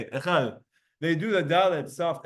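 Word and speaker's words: אחד: It's like a TH, but it's not really a TH, it's like a DH. Now you could say Echad.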